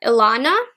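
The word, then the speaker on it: Ilona: i picked up is i might be pronouncing this wrong but ilana i believe i l o n a and this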